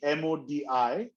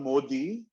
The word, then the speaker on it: Modi: called modi okay now it's spelt modi but it's not modi it's a modi okay like a hard right and uh it's uh